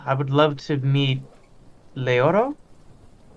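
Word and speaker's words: Leiro: yeah i yeah i would love to meet leoro it's l-e-i-r-o later okay i'm throwing an extra syllable in there got it i'm not that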